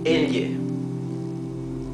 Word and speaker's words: elle: Double L has its own pronunciation. It would be L, similar to the GL in Italian. So this would be elle, right?